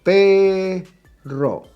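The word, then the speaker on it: perro: dog same thing right pay ro pay is the stressed syllable and is the second to last I do not write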